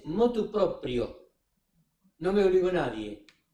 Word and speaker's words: motu proprio: Es propio. Proprio, como en italiano hoy en día, propio el tipo que dice yo mismo. Proprio es proprio. Lo hice motu proprio.